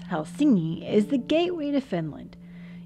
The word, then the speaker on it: Helsinki: Helsinki or properly pronounced hel singi is the gateway to